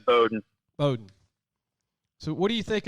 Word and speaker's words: Bowdoin: saying that word wrong beaudoin is that is that how you say it it's boat yeah bowdoin so what do you